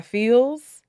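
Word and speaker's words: Pheelz: third one is a song called finesse by feels it's spelled p-h-e-e-l-z it's another afrobeat song it's [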